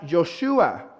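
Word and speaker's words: יהושע: Esta palabra o este nombre es un nombre que se toma del hebreo o arameo y que se pronuncia Yoshua.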